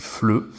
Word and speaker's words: FLE: début, mais en fait, on va prononcer les 3 lettres ensemble, et donc ça se dit FLE.